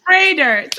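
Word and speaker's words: Froedtert: Foedert. Okay. The most important thing is you guys know how to pronounce our program right.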